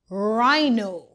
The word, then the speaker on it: rhino: RH says R. The H is silent. Rhino.